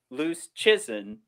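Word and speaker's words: Luszczyszyn: to say his name he said it's like loose chicken so it's dom loose chison uh so he's i've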